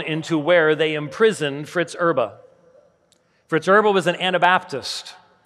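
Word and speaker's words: Erbe: If you put in James White, Fritz Erba, Erba is spelled E-R-B-E, a less than 5-minute video will pop up, recorded in the Wartburg Castle in Germany in 2017.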